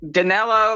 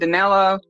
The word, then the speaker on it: Danello: First, Danny comes in, then Danny Boy, then Danny O, then Danello, like a last name with 2 L's at the end, Danello. So phonetically, think of something Danny O.